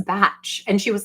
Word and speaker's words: Bach: And I said, I just so you know, I know that it's bac and it's like Johan Sebastian Bach is pronounced like that, but from what I understand, this in particular, this is batch.